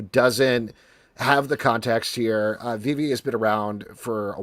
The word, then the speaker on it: VeVe: Did I mispronounce? You actually pronounced it perfectly. Most people say VeVe, so thank you.